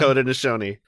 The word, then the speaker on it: Haudenosaunee: Haudenosaunee. Haudenosaunee. Acetylsalicylic acid. Yeah, I'm not going to say that one. Haudenosaunee.